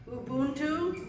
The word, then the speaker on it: Ubuntu: s sing this song called I'm going to pronounce it right Ubuntu which is an ancient African word which in